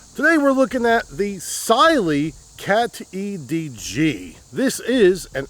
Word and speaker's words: Cyelee: Today we are looking at the SY. Did you know it's pronounced Sy? I've been saying SY this whole time, but turns out it's SY. Today we're looking at the Sily Cat EDG.